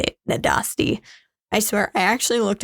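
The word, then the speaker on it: Nádasdy: That's how you say it, Nadasti.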